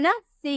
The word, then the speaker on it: niece: NIECE, आपको सी के बाद ई नजर आ रहा है ना, सी के बाद ई, यहाँ पे हम बोले थे ना ई, सी के बाद ई नजर आ रहा है, तो इसे स में प्रोनाउंस करेंगे, बोलेंगे नीस, नीस, NIECE, नीस।